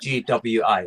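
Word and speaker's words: Guiu: Yeah, just think about it like GWI, like Gui.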